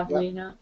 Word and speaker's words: Pavlina: Pavlina. Pretty much how it's pronounced.